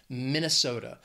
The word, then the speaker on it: Minnesota: to Michigan is Minnesota four syllables stress is on that third syllable that so that second syllable just the schwat Minnesota there's also a pretty